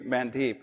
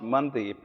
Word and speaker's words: Mandeep: is spelt you know it literally when you read it it reads mandeep uh it's actually pronounced mandip and the way you'll